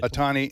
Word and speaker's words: Otani: Did I pronounce his name right? Okay, you did. Otani, and then he also got on base.